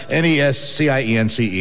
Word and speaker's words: nescience: Yeah, it's spelled N-E-S-C-I-E-N-C-E, and it's pronounced nescience, which is a kind of a glow, isn't it?